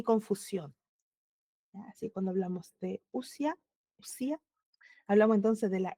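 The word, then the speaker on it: οὐσία: Una breve corrección es usia. Es que en el griego o u se pronuncia como una u. Ya. Ya. Gracias. ¿Cómo se pronuncia? Usia.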